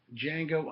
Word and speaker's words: Django: uh is django unchained the d is silent django unchained quentin tarantino's i